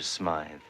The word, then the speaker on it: Smythe: Smith smiles it is pronounced spy all right mr. Smythe mr.